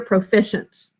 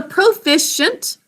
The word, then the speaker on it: proficient: Proficient, 3 syllables. First syllable, p-r-o, 3 sounds, with O in an open syllable saying its name. Next syllable, f-I, 2 sounds, basic code. Next syllable, sh-a-n-t, 4 sounds. We're going to use sh, short letter sh, used at the beginning of syllables after the first one.